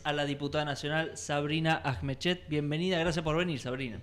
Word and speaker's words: Ajmechet: por primera vez a la diputada nacional Sabrina Ahmechet. Bienvenida. Gracias por venir, Sabrina. No, gracias por la invitación. Está bien pronunciado.